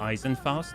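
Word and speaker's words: Eisenfaust: did you even notice your instinctively perfect German pronunciation of Eisen fast you've come along with I have is it Eisen fast is that really how you say it oh my gosh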